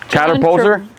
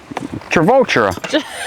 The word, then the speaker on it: Travolta: How do you say his last name? Catapulter? No. John Catapulter. No, John Travolta. Travolta. It's John Travolta.